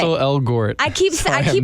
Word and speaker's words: Ansel Elgort: Ansel Elgort. I keep overpronouncing it.